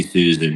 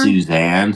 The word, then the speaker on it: Susan: That'd be Susan. Yeah, it's not Suzanne.